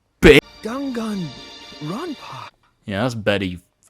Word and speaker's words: Danganronpa: took place within a fictional World known as dongan Roma why the did she say it like that pronounced dangun RPA you bit dangun Rona yeah that's better you Emo